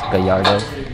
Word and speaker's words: Gallardo: fun fact number 338 it's not pronounced Gallardo it's that yard none of this country